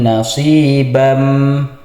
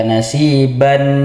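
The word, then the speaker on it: نَصِيبًا: Jadi cara membacanya di sini adalah tanwin di sini dimasukkan ke huruf mim nasibam. Jadi kalau kita baca nasiban minal kitab itu salah. Jadi yang benar nasibam dimasukkan ke huruf mim sambil ditahan atau didengungkan sebanyak dua harakat.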